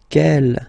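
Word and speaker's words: quel: Kell here feminine singular will become ke with the s fe feminine plural. And the good news is that you will pronounce them the same way.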